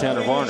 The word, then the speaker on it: Tanner Varner: Yeah, he may have fallen in front of Tanner Varner is the right way to say it.